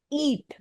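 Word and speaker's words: E-E-A-T: एक सर्टेन आप बोल सकते हो, सिंबल सिंबल भी नहीं, एक शॉर्ट फॉर्म पे वर्क करता है, जिसे हम लोग कहते हैं ईट।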